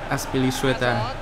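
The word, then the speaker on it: Azpilicueta: Cũng không phải đọc là Cueta mà Sueta. Aspilicueta. Đấy là chính mồm anh ấy bảo là đọc như thế.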